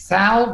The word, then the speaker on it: Thal: How do you pronounce it? Thal?